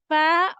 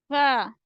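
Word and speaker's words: ف: Fa will pronounce when your edge of upper front teeth touch the inner side of your lower lips. You will be able to say the letter fa, fa.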